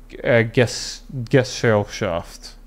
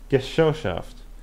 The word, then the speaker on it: Gesellschaft: Around them, the members of the cabal gathered a large circle of occultists and called them the Thule Gesellschaft. I'm gonna need. How do you pronounce this?